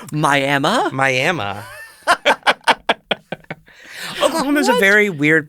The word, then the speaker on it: Miami: we also have a Miami, which is spelled like Miami. Miami? Miami.